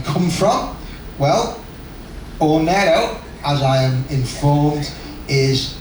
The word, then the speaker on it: hornero: She told me you drop the H and it is pronounced oro. There you go. So, Rufus Orro. Now, where does the name come from? Well, Ornero, as I am informed, is Spanish for baker or oven.